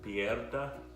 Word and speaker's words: piedra: Piedra, Piedra.